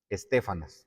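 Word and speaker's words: Estéfanas: Estefanas, acento en la e.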